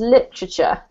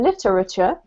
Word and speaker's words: literature: often gets mispronounced is literature. So you can pronounce them literature and territory, but no native speaker will pronounce them like that because we squish them in together.